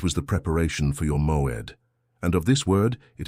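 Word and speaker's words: מוֹעֵד: The Hebrew word that defines exactly what is happening to you is moed. Pronounce it with me in a low voice.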